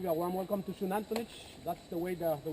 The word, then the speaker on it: Xunantunich: Okay guys, uh first of all, I give you a warm welcome to Shunanich. That's the way the the word is pronounced. The X in Maya is pronounced as sh of shuanich meaning made of the rock.